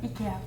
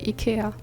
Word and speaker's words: IKEA: Maybe because we say I is like E, not I.